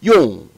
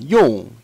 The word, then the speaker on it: 用: So 用, and again, that's fourth tone. So you hear it going down, 用.